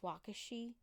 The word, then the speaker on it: Waukesha: I think it's pronounced Waukesha.